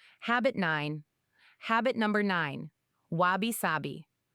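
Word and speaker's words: wabi-sabi: Wabishabi. It's pronounced wab sabi.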